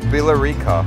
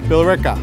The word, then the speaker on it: Billerica: Billerica. Billerica. Billerica. Unknown. Billerica. They don't sound like they're spelled.